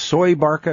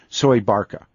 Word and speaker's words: Soebarkah: yes when you first said that and it's pronounced soy Barca as I that's pronounced Barca yes survived that's how they say Indonesian say soy Barca and I've gotten some email this when I